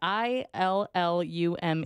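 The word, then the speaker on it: Illume: you spell that uh i l l u m e there you go illum as in illuminate didn't know I was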